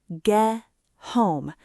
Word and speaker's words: get home: When we say get home fast, the T at the end of get almost disappears. It links together. Listen closely. Ge home. Ge home. It sounds like one word.